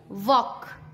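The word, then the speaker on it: walk: के से पहले TALK talc, no नो। टॉक, वॉक, चौक।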